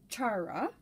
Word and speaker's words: Chara: And he speaks very, very quickly, but from what I can gather, he's pronouncing it Chara.